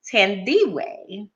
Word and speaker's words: Thandiwe: So her name is actually Thandiwe.